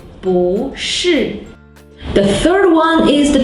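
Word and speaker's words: 不是: But if it's followed by a syllable in the fourth tone, it should be the second tone, just like 不会, 不是.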